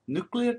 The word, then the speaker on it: nuclear: welcome to video 22-1 nuclear terms and symbols Mass defect stability and nuclear Decay nuclear it's pronounced nucle so chapter 22 nuclear